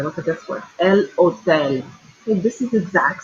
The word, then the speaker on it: hotel: El hotel. Okay, this is the exact same word as hotel in English, right? But in Spanish, the H is always silent. So it's hotel.